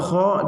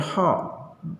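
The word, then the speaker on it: خ: Kalau kha dibacanya gimana? Kha, ya, jangan dibaca ha.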